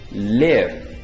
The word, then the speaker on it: live: Resulta que esta palabra escrita así tiene dos significados y dos pronunciaciones. Una de ellas es live, con el significado que lo viste en esta lección, que es vivir.